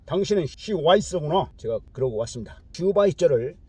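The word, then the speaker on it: Schweitzer: 슈바이서를 영어에서는 시와이서라고 그렇게 발음하죠.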